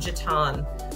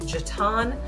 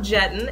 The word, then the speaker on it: Jetton: going to call it a Cornelius is called Jatan so if you look in here Jatan Road yes it's pronounced Jatan not Jetton and thank you to my local Charlotte teams